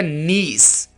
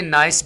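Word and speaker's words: niece: है और यह वाला वर्ड होगा नीस नीस इसको आपने नाइस भी नहीं बोलना ठीक है आगे बढ़ते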